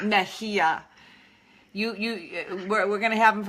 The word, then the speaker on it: Mejia: Mejia. Mejia.